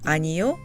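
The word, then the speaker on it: 아니요: would like to note don't get confused between anio and aniel the three-syllable word anio means no in English and the four syllable word is a verb to tell what something or someone is not let's get back to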